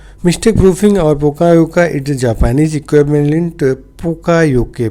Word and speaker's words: Poka-yoke: खोज किया था इन्होंने पोकायोके की। ठीक है, मिस्टेक प्रूफिंग और पोकायोका इट is Japanese equivalent पोकायोके। Pronounce आपको कैसे? पोकायोके। ऑलवेज आपको बोलने में ऐसे बोलना है, पोकायोके।